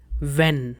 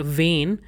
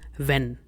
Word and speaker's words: wenn: Its pronunciation is when. The way you pronounce the English word when, so in the same fashion, it is not vain, it is when.